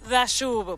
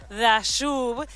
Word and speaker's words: Dayub: en desayunos informales con Mauricio dashu porque la y se pronuncia dayud y ahora también estaba